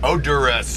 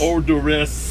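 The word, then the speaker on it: Oderus: Gwar, and you're of course you're known as Odious. Odorous. Gotta get the pronunciation right there, okay, Road Dog.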